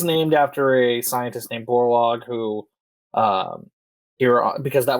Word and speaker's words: Borlaug: do you how do you say that warlock borlaug got it yeah and that is named after a scientist named borlaug who um here because that was the world's